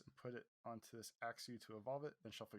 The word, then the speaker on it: Axew: Do you think it's pronounced Axew or Achio? Axew.